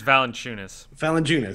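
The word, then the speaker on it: Valančiūnas: I can never fucking pronounce his name. Valanciunas. I'm not sure. I do believe it's Valanciunas.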